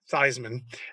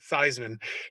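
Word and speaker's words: Theismann: i understand it you convinced not only joe thiesman to pronounce his name theisman uh but even his family to this day pronounces it theisman do you mind sharing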